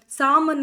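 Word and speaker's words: salmon: ಹೇಳ್ಬಿಟ್ಟು ಅದನ್ನ ಒಳಗಡೆ ತೂರ್ತಾರೆ ಬಿ ಡೆಟ್ ಅಲ್ಲಿ ಬಿ ಅನ್ನ ಡೌಟ್ ಅಲ್ಲಿ ಬಿ ಅನ್ನ ಅಂಡ್ ಸಾಮನ್ ಅಲ್ಲಿ ಎಲ್ ಅನ್ನ ಓಕೆನಾ ಸೋ ಆದರೆ ಅದನ್ನ ಉಚ್ಚಾರ ಮಾಡಲ್ಲ ತೂರ್ತಾರೆ ಅಷ್ಟೇ ಬಟ್ ಅದನ್ನ ಉಚ್ಚಾರ ಮಾಡಲ್ಲ ಆತರ ಸೈಲೆಂಟ್ ಆಗುತ್ತೆ ಬಿಕಾಸ್ ಆಫ್ ಲ್ಯಾಟಿನ್ ಭಾಷೆ.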